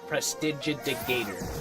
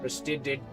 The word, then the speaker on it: prestidigitator: Prestigigator.